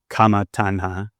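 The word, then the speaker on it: kāma taṇhā: So the sutta talks about craving for sensual pleasure, which we call kama tanha, and that's Kama, so it's not spelled like kama that we typically use.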